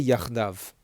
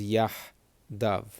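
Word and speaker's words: יחדיו: Okay, so they would say yachdav. The Sephardic or more Israeli is going to pronounce this as yahdav.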